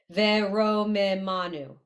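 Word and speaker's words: וְרוֹמְמָנוּ: Yeah, so this second, third to last word, that's actually three, five syllables. Ve. Ro. Because the O is with the resh, then the Shva gets its own syllable.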